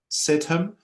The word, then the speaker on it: Sidhom: I think it's Sahar, spelled S-A-H-E-R, Sahar, and then Sidhom, S-I-D-H-O-M, Sahar Sidhom, and Brian Miller.